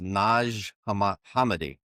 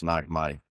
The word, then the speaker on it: Nag Hammadi: I learned this week is pronounced Naj Hammedi, but you know, we're in America Nagami.